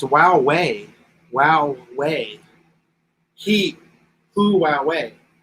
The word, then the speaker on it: Huawei: lithium batteries ronald 109 USD each ah it's pronounced Wow way Wow way he flew away huawei loop Wow